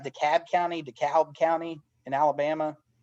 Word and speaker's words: DeKalb: it's alabama yeah but that dekalb county dekalb county i've heard it yeah that's how i've always heard it said i'm glad i said it right the first time so we want these